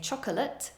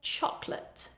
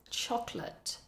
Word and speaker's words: chocolate: chocolate we don't say chocolate we say chocolate you can hear in the word we almost lose that middle syllable chocolate chocolate the next one